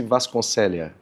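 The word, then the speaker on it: Vasconcellea: É, essa é a grafia. Pronuncia-se Vasconcelia.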